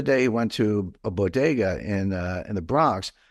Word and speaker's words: bodega: like what the heck's Boda but I realized that she couldn't pronounce Bodega which is you know Spanish that's how you say it uh but I was